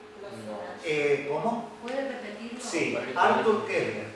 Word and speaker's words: Koestler: Sí, Arthur Koestler, 2 libros. Los Sonámbulos, Kepler, sí, ¿cómo se escribe con K? sí, con K. Koestler, así como suena.